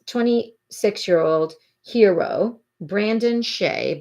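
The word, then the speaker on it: Tsay: year old hero Brandon Shea but it's spelled t-s-a-y but but it sounds like Shea to me Brandon he said he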